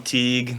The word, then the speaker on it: Tewhigh: I know it's spelled weird, but it's a last name, so It sticks. Once you get it, it sticks. Yeah, I like it. I'm Teague. That's Teague.